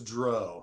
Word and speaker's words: Drow: It was Dro. So all you Drow fans, I believe it.